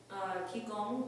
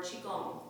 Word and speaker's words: qigong: Today we're doing a breathing meditation, which also doubles as Qigong or Qigong, depending on how you wish to pronounce Qi or Qi.